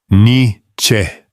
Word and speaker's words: Nietzsche: O nome é, em aproximação grosseira, Nietzsche. 2 sílabas.